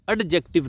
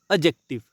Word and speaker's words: adjective: एडजेक्टिव नहीं होता है, ध्यान रखियो। इसमें डी जो है वो साइलेंट रहता है। इस वर्ड में डी साइलेंट रहता है। क्या प्रोनाउंसिएशन होती है? एडजेक्टिव। एडजेक्टिव, ठीक है जी, समझ गए जी।